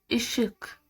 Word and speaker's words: ışık: ı ı ışık ضوء الحرف ده بيتنطق ازاي؟ انا ابتسم كده وادوس على اسناني واقول ı ı ı ışık ı ışık ضوء.